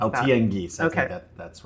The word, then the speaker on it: Tianguis: I'm sorry, I did have 4 years of Spanish, but I'm not sure how to pronounce that. Tianguis.